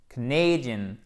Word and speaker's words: Canadian: Et canadien, ça se dit Canadian, accent tonique sur la deuxième syllabe avec une diphtongue A. Canadian, Asian.